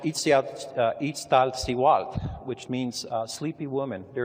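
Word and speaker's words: Iztaccíhuatl: in here in the distance followed by it's pronounced ET out each style see wat which means sleepy woman there is a legend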